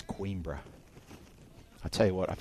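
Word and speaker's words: Coimbra: down the road from coin BR I'm pronouncing that wrong I know it's quebra I tell you what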